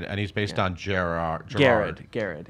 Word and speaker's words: Gerard: I was thinking that your character's name is Jared, and he's based on Gerard. Garrard. Garrard. It's spelled Gerard, but it's okay.